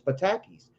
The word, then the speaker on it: patakis: etc are known as patakis pronounced pa ta kis it might be patakis uh they have been